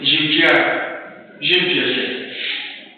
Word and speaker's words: Jean Piaget: We give an example of one of the psychologists, Jean Piaget. In our pronunciation, we say Jean Piaget.